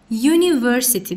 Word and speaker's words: university: U saitle yazılır. Ama biz telaffuzuna baxırıq axı. University deyirik. University samitlə dediyimizə görə a university deyəcəyik.